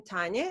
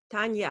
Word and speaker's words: Tania: In English, it's Tania. Now you say it. Tania. So yeah. Tania, I will stick to the Russian pronunciation. So Tania, tell us about your book.